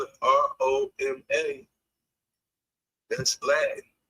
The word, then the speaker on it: Roma: But the city of Roma has always been pronounced over there as Roma. Just like we say Naples, you go over there is Napoli. So, I don't know how